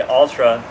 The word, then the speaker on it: Altra: And by the way, Ultra, I'm saying this for people like me. It's spelled Altra because for a long time I was like, what are you saying now?